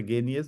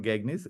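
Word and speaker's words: Gagné: the gainers uh is we we pronounce this as a genius not gagnes genius nine events.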